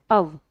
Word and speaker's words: of: कई बच्चे कहेंगे मैम अव नहीं, ये ऑफ होता है, तो भैया मैं आपको बता दूं, ओ डबल एफ तो ऑफ होता है और ओ एफ होगा अव।